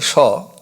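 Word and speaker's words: সহ: Saha is pronounced as Shaw.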